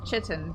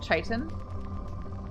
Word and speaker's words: chitin: armor Titan I always read that word as chitton but I like from Skyrim but for the first time I was introduced to that word and then I looked up recently and it's actually pronounced like chitin or chitin I don't think it's now I